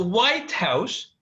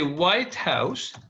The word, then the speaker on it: White House: So White House, like we say White House, if we say it like, I bought a White House, I bought a White House. So I stress the first part, then in this case, I mean a house that is white, and white here is an adjective.